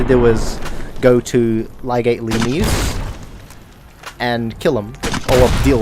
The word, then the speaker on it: Lanius: You will kill Lenius and you will like it. Or is it Lanius? Oh, that's right. I'm pronouncing it the way Caesar's Legion would do it.